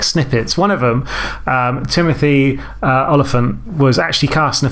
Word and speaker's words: Olyphant: going to be Timothy Olyphant was originally called Timothy Elephant. I'd have been like, wow. Yeah, see, every time I try and pronounce his name, I just think, just go elephant with an O.